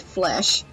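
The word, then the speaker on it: Flèche: so flesh and that's that's actually how you pronounce it flesh because it's a fun fact flesh in French means arrow and if you think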